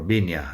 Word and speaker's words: viña: The word viña, or viña, I guess, would be a slightly better pronunciation, is a grapevine, viña.